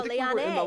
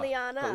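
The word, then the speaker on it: Leane: Oh no, Liane. We were saying Liana. Liane. Liane.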